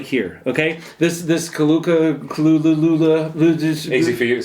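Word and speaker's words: Kulu-Ya-Ku: Okay, this Kalula. Easy for you to say. Thank you. Yeah. Because You gonna come in with a pronunciation? Kulayaku.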